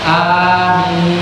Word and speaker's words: amin: Sama bacanya amin, minnya yang lebih panjang daripada a-nya. Amin.